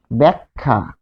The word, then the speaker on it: ব্যাখ্যা: কিরকম দেখুন, আমরা লিখি যে ব্যাখ্যা, তাহলে এটি কি হবে, এই যে ব্যাক, তাহলে এ এর উচ্চারণ পাচ্ছি ব্যাক। তারপরে হচ্ছে খা, ব্যাখ্যা।